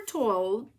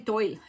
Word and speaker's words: Toile: It kind of rhymes with wall and then you say to.